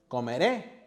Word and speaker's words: comeré: Comeré with the stress in the last syllable.